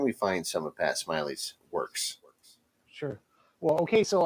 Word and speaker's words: Smillie: So for the folks listening out there, my name is Pat Smiley, and my last name is spelled Smillie. It's like Millie with an S, but it's pronounced Smiley.